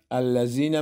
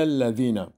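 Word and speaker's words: الذين: مثلا بعضی ها الذین میخوانن که غلط است. در تلفظ زال باید زبان در دو دندان بالا بچسبه، تماس پیدا کنه. مثلا گفته میشه الا الذین، و همین قسم لفی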